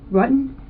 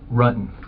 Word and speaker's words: Rutan: John Rutten? Rutan. The investigators already knew how to say John Rutten's name correctly.